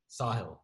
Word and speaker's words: Sahil: Yeah, Well, when you do like a Sahil, is it pronounced Sahil? Sahil.